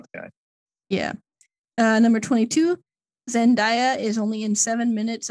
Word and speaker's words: Zendaya: you're probably not the guy yeah number 22 zendaya is only in seven minutes of dune did